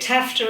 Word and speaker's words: TAFTA: so the ttip and they call it tafta in the US rhymes with NAFTA uh the North American